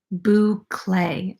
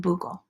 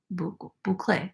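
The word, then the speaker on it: bouclé: already smitten with it boo clay okay Omar thank you all these years I've been calling it Boogle like a buckle but a buckle boucle I almost said it wrong again so I picked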